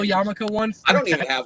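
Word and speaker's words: yarmulke: not my bailey Wick ask me how to pronounce yamaka it's yamaka it's not it's not Yuka spell it because most people can't can you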